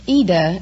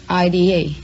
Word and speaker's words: Ida: Well, it's Ida in Italian, but... Oh, like Aida? Well, no, there is no A. It's just Ida. I-D-A.